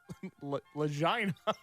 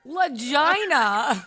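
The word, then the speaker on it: Lagina: Enter Rick and Marty Legina. No, it's not. It's spelled How's it spelled? Come on. It's spelled L A G I N A. Lagginina. Lagginina. That's how you say it.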